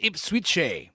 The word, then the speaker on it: Ipswich: I was very wrong when I just said that Ipswich is clearly a Native American name. It's pronounced Ipswich.